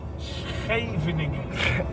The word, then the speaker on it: Scheveningen: Can you pronounce it? Scheveningen. Scheveningen. Nee, Scheveningen.